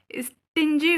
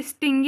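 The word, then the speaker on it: stingy: हो गया ग्रास्पर कंजूस स्टिन जीी हो गया आप ध्यान दीजिएगा यह स्टिंग नहीं है यह स्टिन है एस टी आई एन जी वाई स्टिन जीी यानी कि कंजूस इलिबरल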